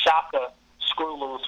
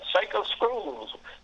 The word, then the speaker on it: Shaka Screw Loose: It's actually pronounced Shaka Screw Loose from the African warrior Shaka Zulu.